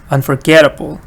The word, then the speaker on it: unforgettable: da da forgettable and in the last one the pattern is Unforgettable Unforgettable so you see all of these words stresses on get so if you know